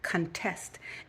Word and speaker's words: contest: from which it comes contest emphasis on the second syllable now to contest something